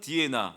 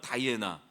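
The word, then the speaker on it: Diana: 그리고 로마에서는 디에나, 영어 발음은 다이애나. 사냥의 여신이에요.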